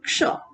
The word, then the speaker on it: क्ष: और छ, बिल्कुल नहीं, इसका प्रोनाउंसिएशन क्ष श। इसीलिए अगर हम एक शब्द लिखती हूँ, आप इसका प्रोनाउंसिएशन करें, ये क्या लिखा हुआ है? कक्षा, नो बिल्कुल नहीं, ये लिखा है कक्षा। ठीक है, इसका प्रोनाउंसिएशन हम क्या करेंगे? कक्षा, आधा क बीच में आए, कक्षा। ओके, ये है क्ष।